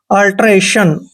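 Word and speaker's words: alteration: हमने ए पढ़ना है टी आई ओ एन का उच्चारण शन करना है अल्टरेशन ठीक है अल्टरेशन अल्टरेशन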